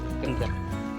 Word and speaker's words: Kynrem: Kentram. Kentram. Kentram waterfalls. Yeah. Kentram. Yeah. that's spelling क्या है?